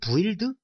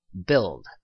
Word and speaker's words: build: 몰랐다고 가정을 했을 경우에는 뭐 브드 뭐 이렇게 발음을 하셨을 것 같아요. 하지만 바람을 보세요. 간단하죠? 그렇죠? build 이렇게 발음을 하셨고요.